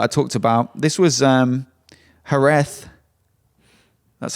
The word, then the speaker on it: Jerez: This was Jerez. That's how you pronounce it.